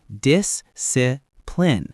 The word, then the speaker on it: discipline: Discipline. Disipline. Stress on that first syllable.